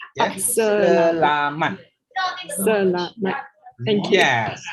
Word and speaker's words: selamat: Okay, the only things you need to correct is the pronunciation of selamat. Yeah? Selamat.